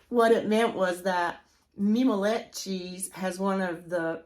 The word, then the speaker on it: mimolette: Mimolette cheese. I found out the pronunciation is mimolette, and yes, it is French.